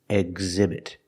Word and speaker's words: exhibit: You see the H after X, which is a consonant, but it's a silent consonant. It's a silent letter. We don't pronounce it. That means phonetically, there's a vowel after X. So we need to make the voice sound.